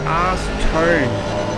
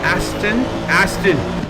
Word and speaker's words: Aston: Arse-Tone, Arse-Tone, Arse-Tone, Arse-Ton. Is it Arse-Ton Racing? Aston. Got it.